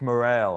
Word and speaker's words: Morril: be how you uh sam morel but it's spelled morel i know do you think of changing it to an e no i just it's one of those things where my dad is just like it's morale and i'm like well